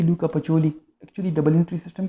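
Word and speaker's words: Pacioli: रहे, पिक्योली टाइप लिखा है, लेकिन एक्चुअली उसकी प्रोनाउंसिएशन जो मैंने गूगल पे देखी थी लूका पचोली, actually double entry system का फाउंडर वो है।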